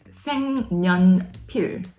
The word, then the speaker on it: 색연필: 색연필, 색연필. This word means colored pencil. The first syllable, 색, is color, and 연필 is pencil. But when you say it together, it's 색연필, 색연필, 색연필.